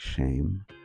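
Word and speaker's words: שֵׁם: Um so in English um we say name but in Hebrew they would say shem or this says it's pronounced like shame.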